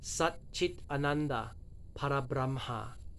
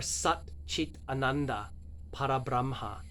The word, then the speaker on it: Sat Chit Ananda Parabramha: The words are Sat Chit Ananda Parabramha, but he doesn't speak it like it's a sentence. He says Sat Chitananda Parabramha.